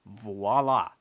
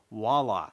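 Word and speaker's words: voilà: you're looking for is voila, not voila. It's v o i l a with a v as in victor.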